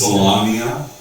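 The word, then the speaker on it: Solamnia: So, So you have Sorry, a couple, 20 yeah, a couple of points on pronunciation. It's Salamia, Huma, Sylvanesti, and Polonesti.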